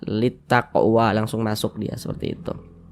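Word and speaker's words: للتقوى: lamnya ini dibaca idgham nah ini huruf lamnya di sini kan dia tidak ada tanda bacanya nih dia enggak dibaca karena dia enggak ada tanda bacanya jadi cara membacanya itu dari li ini Li langsung masuk ke ta litaqwa langsung masuk dia seperti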